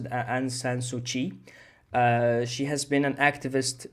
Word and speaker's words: Aung San Suu Kyi: Myanmar's ousted civilian leader, Aung San Suu Kyi, has been sentenced to 4 years in prison. All right, so let's understand this first. So this person here, guys, it's pronounced Aung San Suu Kyi.